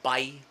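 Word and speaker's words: Bay: So I offered my time to help out the less fortunate in a town in Laguna called Bai, BAE. It's pronounced Bai.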